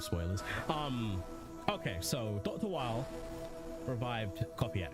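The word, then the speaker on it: Wily: Wild while not WY pronounced it wheel. Nope, it's actually pronounced while because in the Japanese his name is Dr.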